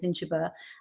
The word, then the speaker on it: Ninshubur: I sort of had an idea, a slight guiding principle where I was sort of Inanna, Ninshubur, as I pronounce it, you pronounce it no doubt more correctly as Ninshubur, and Ereshkigal, the three of them.